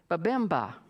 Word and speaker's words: Babemba: B-A-B-E-M-A. So I would say Babemba, the Babemba tribe of South Africa.